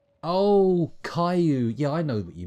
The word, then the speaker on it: Caillou: Caillou that's it yeah Callie you Caillou I think it's pronounced call you right anyway let's go